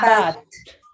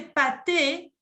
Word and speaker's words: pâtes: pâtes. Que son las pastas, ya en general, les pâtes. Ojo, no decir la E, porque si me dice pâté, el Es pâté pâté.